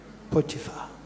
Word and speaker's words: Potiphar: That correct pronunciation? Potiphar. Potiphar. Afrikaans, for those who wanted to know.